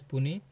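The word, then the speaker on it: puisne: So pusen pronounced as pune is a legal term that originated in the France meaning junior or inferior in rank in India.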